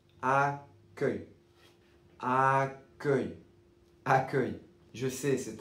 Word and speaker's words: accueil: Pour la prononciation de ce mot, c'est a comme le a dans le chat. A que que comme le e dans e et ye comme feuille accueil accueil accueil je sais